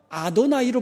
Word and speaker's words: 아도나이: 그래서 이것을 야훼라고 읽었습니다. 그런데 경건한 유대인들이 하나님의 이름, 감히 하나님의 이름을 부를 수가 없었어요. 그러다가 이 야훼라는 말이 나오면 부를 수가 없으니까 부르긴 불러야 되는데, 그래서 야훼라는 글자가 나오면 아도나이로 불렀어요.